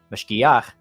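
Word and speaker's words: mashgiach: Mashkicha is how you say it in the feminine. Mashkiach is the masculine.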